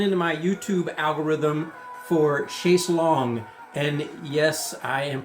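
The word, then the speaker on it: Chaise Longue: I became aware of them in 2021 with a video that was thrown into my YouTube algorithm for Chase Long. And yes, I am pronouncing that correctly.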